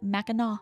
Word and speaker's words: Mackinac: And I had to Google how to say it because I was like, there's no way this is how you pronounce this. And yeah, Meno.